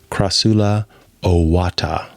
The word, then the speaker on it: Crassula ovata: Technically, that would be, if we're going with original Latin and not church Latin, that would be Crassula ovata, which sounds really cool and kind of rhymes with Hakuna Matata.